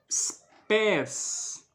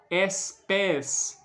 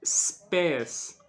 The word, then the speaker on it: spes: né Por exemplo statum spés speculum não se pronuncia statum como se fosse um e no início da palavra não pode espes não se pronuncia assim né É spés statum não se pronuncia